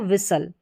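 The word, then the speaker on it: whistle: कासल अगर आप देखें तो सल एस टी एल ई इसका उच्चारण सल करके कर दें और इसको विसल यानी एस टी एल इ को आप सल करके पढ़ेंगे।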